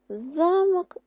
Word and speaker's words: замок: що це в нас замок і замок замок це наша фортеця замовчимо зачиняємо Отже написали вправа 4 і 2 слова замок наголос на перший замок наголос на другий склад Подивіться нам потрібно скласти